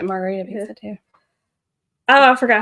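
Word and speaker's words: Margherita: So the answer is It's margarita. Margarita. But it's spelled like that.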